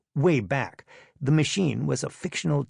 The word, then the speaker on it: WABAC: If you care about classic TV cartoons, you've heard of the WABAC machine, pronounced wayback.